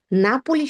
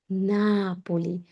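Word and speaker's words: Napoli: নাপোলি শহর না, নাপোলি, নাপোলি।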